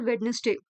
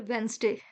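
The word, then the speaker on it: Wednesday: All days are वेडनेसडे और वेंसडे, माफ कीजिएगा प्रोनाउंसिएशन के लिए।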